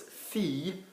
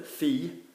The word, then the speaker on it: fille: Fille for daughter, fille. Yeah, some accents will say fille with a bounce. It's wrong, isn't it? Because we should be saying fille, like ville for city or town.